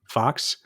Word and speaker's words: Fox: I think the better book is number go up by Zeke Fox. Number go up. Okay. Zeke F Aux, but I think it's pronounced Fox.